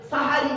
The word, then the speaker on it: সাহারি: শেষ অংশের খাবারকে আরবিতে সাহারি বলে তাহলে এখন শব্দটা কি হবে সেহেরি না সাহারি সাহারি জোরে বলুন সাহারি সাহারি দ্বন্দ আকা আমরা কিন্তু সেহরি আফসোস এই জায়গাটাই চলুন